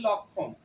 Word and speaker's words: লক্ষণ: আমরা বলবো ক্ষমা আবার যুক্তফা যদি কি থাকে শব্দের মাঝখানে যদি থাকে বা শব্দের শেষে যদি থাকে তখন আমরা কি বলবো যেমন আমরা এই শব্দটাকে কি বলবো লক্ষণ বাংলায় যদি বলি লক্ষণ কিন্তু এখানে যুক্তক্ষটা আমাদের লক্ষ লক্ষণ কি আছে মাঝে আছে তাহলে আমাকে ক এবং স এর উচ্চারণটা করতে হবে কিন্তু ক এর পূর্ণ